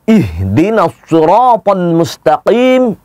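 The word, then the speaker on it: اهدنا الصراط المستقيم: ini juga banyak yang keliru sekali lagi penempatan antara huruf H dengan hak sering orang keliru yang keluar bukannya ihdinashirotolmustakim sering ihdinas sloven mustaqim ingat tadi huruf ha itu adanya di dalam dada maka pengucapannya pun harus benar ihdinas ih Dinosaur Fadlu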